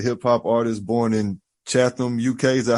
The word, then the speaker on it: Chatham: He's a hip hop artist born in Chatham, UK. Is that how you say it? Chatham? All right. Chatham, without the H. H is silent. All right, got you. Yeah. Chatham.